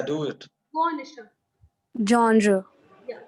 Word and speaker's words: genre: But the correct pronunciation, because it is a French word, the word. Now listen to me carefully. It goes like genre.